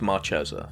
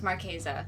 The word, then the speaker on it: Marchesa: yeah because it it it kind of looks maresa yeah but it's maresa yeah keep that in